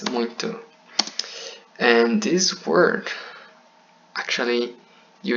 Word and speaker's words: muito: Actually, you say like, you write muito, but you pronounce muito.